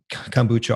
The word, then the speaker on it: kombucha: Tell me, there's a lot of kombucha on the market right now.